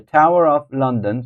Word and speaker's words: Tower of London: The Tower of London, so first syllables, they take the stress.